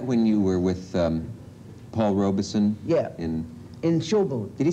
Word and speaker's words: Robeson: you were with Paul Robeson? Yeah. In Showboat. Did he say Robeson or Robeson? Robeson. He always said two Robeson. syllables. A lot of people say Robeson, but he said Robeson.